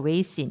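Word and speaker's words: 微信: 뭐 중국 발음으로 웨이신 이렇게 이야기하는데 위챗을 사용하는데 위챗에는 어떤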